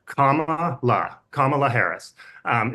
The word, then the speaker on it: Kamala: um so for her the way to say her name her first name is to think of a punctuation mark Comm La Comm Harris um it's